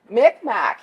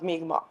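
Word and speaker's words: Mi'kmaq: that we have today mcmack however is the angelized pronunciation of migma so if you were to apply the English alphabet to it that's where that word came from and so some people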